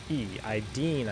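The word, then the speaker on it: IDENE: So after Linz, we're going I-D-E-N-E. Ideen, I believe, is how it's pronounced.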